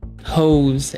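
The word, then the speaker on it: Haux: Hose. H A U X. We're going to pronounce that hose.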